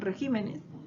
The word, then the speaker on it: regímenes: también cierto ha cambiado si nos damos cuenta en regímenes la posición de la silva tónica no se están tildando las